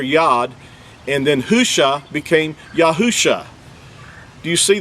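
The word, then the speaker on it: הושע: If you look this verse up, you'll see that where it says Hoshea, that, first of all, that's not even an accurate transliteration. The actual word is Husha.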